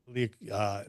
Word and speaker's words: Liacouras: Liacouras. Before AEW Dynamite, which airs live on TV. The Liacouras Center. Yes. I did announce named for former Temple University president Peter Liacouras.